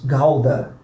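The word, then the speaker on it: Gouda: हाँ, तो पनीर का नाम इसी तरह उच्चारित किया जाता है: गौडा। गौड़ा. गौड़ा.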